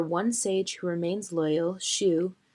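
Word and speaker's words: Shyu: However, one sage who remains loyal, Shu, how do you pronounce his name? Shu? Shiyu. Shiyu, helps Aang to reach the sanctuary where he is to speak with the past Avatar.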